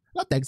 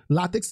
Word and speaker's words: látex: Então, como eu falei, a gente deve falar látex, não deve falar látex, por exemplo. Latex está errado, látex está certo, né?